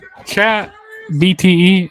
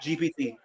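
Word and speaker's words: ChatGPT: Chat B Chat BTE is it? No. How how do you say it? What? GPT.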